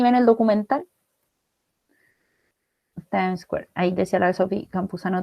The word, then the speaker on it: Times Square: A ver, Time Square. ¿Cómo se dice? Ustedes que tienen inglés. Se dice Times Square.